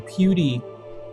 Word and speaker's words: PewDie: that used to be Pewdie or PewDie. Although he called it Pewdie, but pew, pew, pew, like for pew, pew, pew. And die, like die, but he just pronounced it Pewdie.